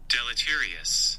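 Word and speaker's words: deleterious: It seems that even indirect observation carries deletterious consequ How do I pronounce that? I'm finding out deletious. Hang on. Pronunciation delotterious. I nailed it. Listen to that. Listen to that. Delterious. Nailed it. Delotterious.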